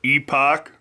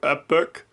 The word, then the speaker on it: Epoch: cool this is called the epoch or epic however you want to pronounce it e p o c